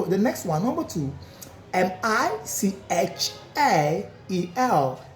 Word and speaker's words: Michael: M I c h a e l. M I C H A E L. What is the pronunciation?